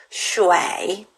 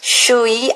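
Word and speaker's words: 水: 슈와이. 이렇게 발음해요. 슈이 아니고 슈와이 이렇게 돼요.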